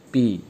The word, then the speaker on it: pi: Jadi notasinya seperti n ya, seperti n bacanya pi, ketentuannya ini ya, gitu ya.